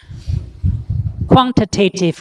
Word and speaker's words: quantitative: Are tariff quotas quantitative restrictions? Can you pronounce the word? Quantitative. Quantitative. That's the American way, okay? Quantitative. Quantitative. In American English, tative is also always pronounced as tative.